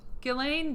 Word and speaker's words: Ghislaine: Ghislaine does sound a little more elegant. And so some of the survivors have said Ghislaine and some have said Gillen. Well, most of the time when I hear the Brits say it, that's the way a